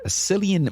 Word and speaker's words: Cillian: 28 Days Later was directed by Danny Boyle and starred Cillian Murphy. Is it Cillian or Killian? Killian. Killian.